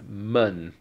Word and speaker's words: 们: Well, there's another example with men in it, and this one, except of course the pronunciation isn't men, it's mun.